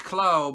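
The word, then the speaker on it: Klaue: right ulysses cloud and that is how it's properly pronounced khloe but they have they call it claw the one arm white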